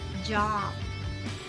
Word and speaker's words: job: So the letter O should not be pronounced. It's like a letter A. A sound.